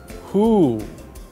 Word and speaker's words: who: ButWhen W, H, and O are together, it makes the sound who. The letter O doesn't make the sound ah, it makes the sound oo.